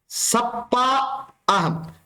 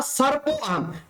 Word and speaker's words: सर्प: आप कौन हैं, तो उन्होंने कहा सप्पा अहम, जबकि उनको बोलना था सर्प अहम। तो उन्होंने क्या किया, उस सर्प ने इस र का उच्चारण वहां पर नहीं किया। तो जब गोणिका ने पूछा